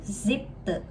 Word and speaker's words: siebte: nah yang ketujuh itu siebte. Te ya, te bukan te. Jadi kayak kita nyebut mukena, gitu. E-nya itu bukan pakai e tapi e, oke?